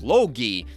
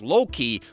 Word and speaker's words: Logi: Lastly, for enchantments, there is Logi, not Loki. Logi rhymes with pierogi, who's the personification of fire.